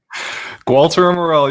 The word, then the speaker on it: Gualter Amarelo: Did I say it right? Gualter Amarelo, you got it, brother.